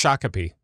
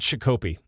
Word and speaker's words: Shakopee: which is it it's it's Shakopee okay not Chico P well they don't know